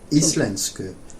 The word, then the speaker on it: íslensku: Íslensku. Yeah. Do you want to try saying he is speaking Icelandic or talking Icelandic? Hann að tala íslensku. Close, except the stress is on at the beginning of íslensku.